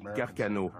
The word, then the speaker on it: Carcano: On prononce Carcano.